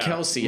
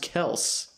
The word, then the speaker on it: Kelce: It's not Kelsey, I guess. He corrected people the other day. It's pronounced Kelce.